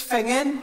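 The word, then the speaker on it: Finzean: It's Fingen. Could you spell that, please?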